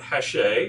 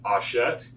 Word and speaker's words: Hachette: Learned while I was up there, it's not Hachette as I was pronouncing it, it's Hachette.